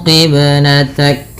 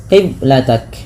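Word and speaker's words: قِبْلَتَكَ: Kesalahan yang terjadi dalam membaca qalqalah yaitu tidak memantulkannya. Qiblatak. Nah, ini salah sehingga harus dipantulkan ya qiblatak.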